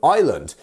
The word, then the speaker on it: island: So island, as you can see, it should be pronounced Iceland, right?